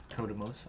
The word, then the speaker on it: Kodamos: Kodamos, I believe, is how you pronounce his name. Yes, it is.